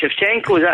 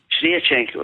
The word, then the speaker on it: Sviatchenko: Is it Shevchenko? That's my name, is it? Sviatchenko, right.